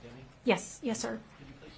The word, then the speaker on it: Deming: Deming is pronounced Deming? Yes, sir. Could you please spell it? Deming.